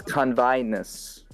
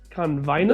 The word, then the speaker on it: Convinus: no by the way you're pronouncing the planet's name wrong oh it's convinced convinced i the eye is accented got it okay